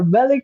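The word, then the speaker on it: Belikin: yeah I am particularly interested in this uh Bellin let me know if I'm pronouncing it correctly Bellin yeah Bellin yes that's my number one top seller everyone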